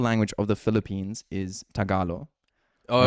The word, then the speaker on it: Tagalog: She is Filipino and she also said it's Tagalo or like pronounced like that or something. Tagalo. Yeah. So I was taught that it was pronounced Tagalo.